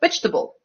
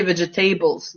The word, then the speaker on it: vegetable: it's not even schwa we just lose that syllable completely like in the word chocolate so it's not chocolate its chocolate chocolate or like vegetable you know although our students like to say vegitables don't they but yeah